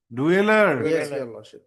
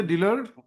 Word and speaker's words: dweller: Dweller. You should know how to pronounce at least. Don't say dealer. Yes. Dweller be a dealer.